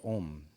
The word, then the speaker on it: om: mantras and it's the Mantra om and uh it's actually pronounced a-u-m and each letter in the OM means something a represents creation U represents sustenance of life and M destruction of life and um if you'd